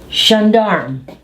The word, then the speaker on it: gendarme: Gendarme. Now notice this is ZH. Again. GE has the sound of ZH. Gendarme. And drop the E.